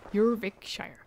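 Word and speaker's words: Jorvikshire: i will go at once with caution avor jurvikshire is currently at war with depicts a proud clan that lives just beyond the roman wall jurvik shire that's how they pronounce it you're rick shire okay i have to remember that more intel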